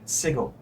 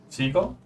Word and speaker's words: Sigil: Known as the city of Sigil. Sigil. Seagull? Sigil. Like sigil, like something as a rune or something like that, but pronounced differently.